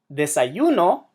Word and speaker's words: desayuno: The word desayuno. Desayuno, which we saw earlier, follows the rules. It emphasizes the second to last syllable. Desayuno, which means breakfast.